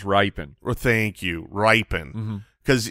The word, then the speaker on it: Rypien: It's pronounced Rypien.